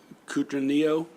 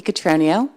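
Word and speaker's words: Cutroneo: thank you um and uh miss uh coutra neo please i really like how you said my name there i actually like it better than how it's pronounced good afternoon my name is catranio i am the chair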